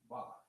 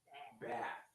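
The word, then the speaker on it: בת: Ba. Not bath. Not bath, but ba.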